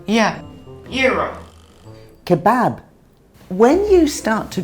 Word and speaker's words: gyro: You said "yeer-oh." Yes. I'm glad you taught me that because I've always read it, in America, and I thought it was pronounced "ji-roh." And that... But now I know how to say it properly.